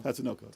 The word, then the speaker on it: Tatsunoko: Tatsunoko.